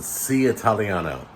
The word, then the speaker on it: Seaitaliano: reviewing a place called sea italiano and it's spelled like sea like an ocean s-e-a italiano all one word um it's literally right